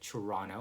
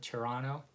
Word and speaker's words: Toronto: people would call it Toronto with ch. Some would call it with tia, Toronto. Some people would call it trawna, right?